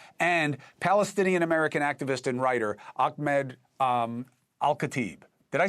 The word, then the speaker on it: Ahmed Alkhatib: One is someone I rely on very heavily, Executive Director of the Urban War Institute, John Spencer, and Palestinian-American activist and writer, Ahmed Alkhatib.